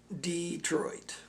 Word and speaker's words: Detroit: of cold coffee here people who are Michiganders real Michiganders know how to say Detroit it will be enunciated and pronounced many other ways but Michiganders it's Detroit I have played music